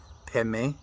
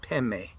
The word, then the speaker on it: Padme: They pronounce it Peme, and that just happens to be part of the Tibetan tongue.